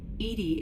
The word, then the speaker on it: EDI: Why are you named Edy? Edy is the phonetic pronunciation of EDI.